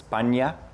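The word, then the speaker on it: paññā: In Pali, that word is pronounced as panya. En Pali esta It's just panya instead of prajna, yeah.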